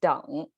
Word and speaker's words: 等: the whole thing okay the jose actually pronounced as don and original meaning means